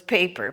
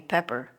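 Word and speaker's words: Peper: And my last name was Paper, P-E-P-E-R, which is just on the sideline. It's pronounced paper. Here they called me Pepper.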